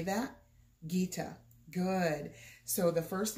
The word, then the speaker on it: Gita: watch for first and the first word is Gita okay can you say that Gita good so the first name is Gita and